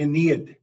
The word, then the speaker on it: Aeneid: Is it the Aeneid? The Aeneid. The Aeneid. I always mispronounce it.